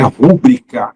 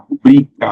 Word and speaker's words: rubrica: tá essa aqui despenca não é rúbrica é rúbrica rubrica assinatura rubrica tudo que termina em